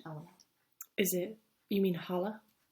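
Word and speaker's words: challah: Hala. Is that? Yeah. Oh, cool. It's like how Hanukkah is sometimes spelled with CH.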